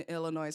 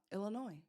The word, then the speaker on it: Illinois: Uh the S is silent in Illinois. I didn't know that. Illinois.